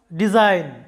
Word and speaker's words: design: Jemon ei shobdo ta lokkho koro, design.